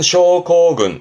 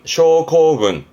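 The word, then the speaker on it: 症候群: 발음은 쇼코군, 쇼코군.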